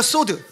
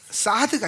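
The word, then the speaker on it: סוד: 그다음에네 번째가 소드. 예. 사드가 아니 소드예요. 소드. 그거 영어식 발음이야. 예. 히브리식 발음은 소드. 예. 그니까 소드를 그 미국식 라피들이 사드 이렇게 말하거든요. 예. 근데 소드예요.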